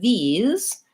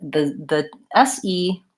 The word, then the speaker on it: these: They both have a common pattern, which is that these has a voiced end sound. So the SE, the letters SE in the word these sound like Z, the voiced Z sound, whereas the word this has, the S actually says S, it's a voiceless sound.